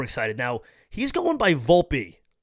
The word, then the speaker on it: Volpe: he's going by Volpe I originally was saying Volpe for a while because again as someone with an Italian Heritage I I feel like it's volpei but I'm not going to tell another man how to say his last name so again it's it's Volpe so I don't know